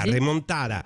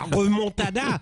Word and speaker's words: remontada: Déjà, sur la forme, le mot espagnol doit se prononcer avec l'accent castillan, vous voyez, pour en préserver une espèce de fierté, quoi. Et la fierté andalouse, la remontada. Mais quand Arnaud Montebourg le prononce depuis Clamcy avec l'accent morvandio, parce qu'il est de là-bas, la remontada, le mot perd quelque peu de sa noblesse.